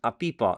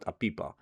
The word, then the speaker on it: APIPA: And yes, I know I'm pronouncing it incorrectly, but you know, as long as you guys know what I mean. you spell it as API AA and I call it aipa.